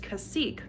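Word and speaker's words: Cacique: never know how to say that there's uh cashique I don't know yeah I guess cash editing Julie here so apparently it's pronounced cassique all right back to your program already in progress one's like 42 one's 44.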